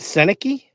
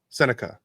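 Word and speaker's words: Sennecke: And I think it would be So is it Senaki? Senica. Oh, did I say Senaki? You did. I just thought of maybe we've been saying it wrong the whole time.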